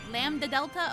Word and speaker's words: Lambda Delta: be unseemly lady Castle do you really not pronounce the d cuz it looks like it would be Lambda Delta Lambda Delta okay well yeah cuz it's lamb and then da okay lamb know Lambda